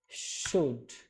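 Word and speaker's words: should: এখানে এল এর কোন উচ্চারণ নাই।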